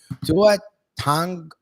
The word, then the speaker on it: Tua Tagovailoa: What was his pronunciation of it? Tua Tagovailoa. Tua Tagovailoa. And that was the correct pronunciation, supposedly.